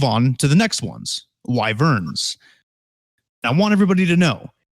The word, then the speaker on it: wyvern: how to pronounce this it is wyvern okay it's not woven because that doesn't make any goddamn sense it's just you say it the way it looks it's w-y-v-e-r-m live urn